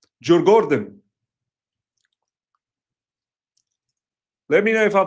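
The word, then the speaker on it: Djurgården: M the garden in Jen is pron is actually pronounced Gordon. J Gordon.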